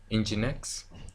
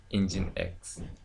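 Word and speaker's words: nginx: month whomp lump monkey web server et Cie engine X actually this name many people have problem in pronouncing it so actually it's like engine X we pronounce we pronounce it as engine X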